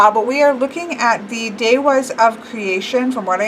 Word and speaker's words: Devas: Devas is what looks like Devas is supposed to be pronounced Daehwas.